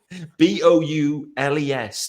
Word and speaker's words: Boules: They think I'm talking about the Chicago Bulls, but no, it's Bulls. Boules.